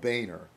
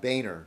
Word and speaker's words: Boehner: So then Boehner does the same thing.